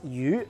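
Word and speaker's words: 鱼: during a new year meal because fish is pronounced U which also sounds like the word u which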